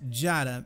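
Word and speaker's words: Djata: Mansa meaning king and Diada, pronounced Jada meaning lying, laid the foundation for a powerful and wealthy African empire.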